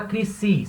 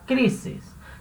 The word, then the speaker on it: crisis: Você não fala crisis, você fala crises. Então, a primeira sílaba é a mais forte, cri, certo?